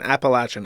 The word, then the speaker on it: Appalachian: gave me a curse also Appalachian should pronounce with a latch and not a as someone from there okay fine appalachin I will adjust my